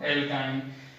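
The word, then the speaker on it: alkyne: Pronunciation का ध्यान रखें, एल्केन, एल्कीन और एल्काइन।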